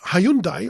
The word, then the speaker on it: Hyundai: So, you've got Hayundai or Hayund, I think you have to pronounce it.